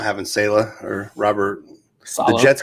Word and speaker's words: Saleh: I think a lot of that was because of Robert Saleh. Is that how you pronounce it?